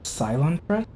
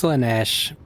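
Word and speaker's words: Slaanesh: Wait, Cylon Thresh? It's Slanesh. The Eldar have different words for things.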